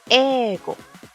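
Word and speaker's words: 英語: El país se dice Igirisu, pero no decimos Igirisu-go. Se dice Ego, porque así se le conocía antiguamente a Inglaterra, si vieran de dónde viene el kanji, bla, bla, bla.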